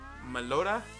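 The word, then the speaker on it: Meloetta: we're not supposed to know it is uh meloda that's how you pronounce it and then with that you will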